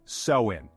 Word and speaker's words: Samhain: to the ancient Celtic Festival of samhan pronounced sein over 2,000 years ago